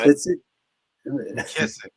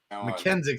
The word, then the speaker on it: McKissic: It's funny because I'm I was like, have I been saying his name wrong the whole time? I'm like, is it McKenzie? I'm like, oh no, McKissic. I'm calling him McKenzie sounded cooler.